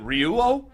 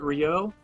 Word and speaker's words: Ryuo: Asus Rog is it ryuo that's how I pronounce it um yeah I've always pronounced it Rio um kind of like a Ryu from Street Fighter that's the way I've